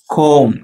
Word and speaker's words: comb: comb என்ன spelling பாருங்க, B வந்து சைலண்ட்.